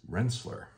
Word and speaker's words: Rensselaer: all right here um officially when I've looked it up it is Rensselaer that is what I